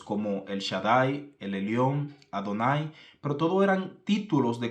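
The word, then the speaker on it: Adonai: Quién eres Señor la la pronunciación aquí dentro de los textos originales sería Quién eres adón quién eres adonay quién eres mi señor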